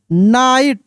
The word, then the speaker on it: knight: The lamb became happy and followed, FOLLOWED, followed, followed, HUGGED, followed, hugged, the little lamb with Joy, द नाइट, यहाँ पे के silent है, smiled, SMILED, smiled, because, helping, HELPING, helping, others, is, always, ALWAYS, always, the राइट thing to, राइट thing to डू।